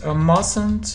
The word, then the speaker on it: mustn't: Yes, we don't say t. Mustn't. Mustn't.